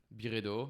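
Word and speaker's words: Byredo: Birredo, that's how we pronounce it. But you guys like Barretto.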